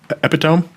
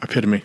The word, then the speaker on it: epitome: Epidome.